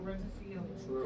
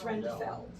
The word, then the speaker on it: Rendfeld: Oh, Renfield. It's Rendfeld. Yeah.